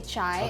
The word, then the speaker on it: chai: you're saying it correctly in hindi you would say chai and then in punjabi you would say ja okay it's just and